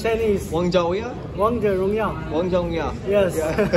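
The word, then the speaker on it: 王者荣耀: In China, it's named Wang Zhe Rong Yao. How you say it? That's Chinese. Wang Zhe Rong Yao? Wang Zhe Rong Yao.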